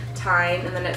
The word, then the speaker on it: TIJN: So I have some items from the brand TIJN, which is spelled T-I-J-N, and I believe it's pronounced TIJN, but they